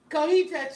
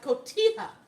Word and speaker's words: cotija: Cojita cheese is pronounced cotija. Cotija cheese.